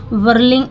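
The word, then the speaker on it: whirling: ऊपर सपने में है वर्लिंग इन द स्काई so fast यहां पे जो वर्लिंग है डब्लू के बाद अगर एच आता है तो एच हमेशा ही साइलेंट रहता है ये ध्यान देने वाली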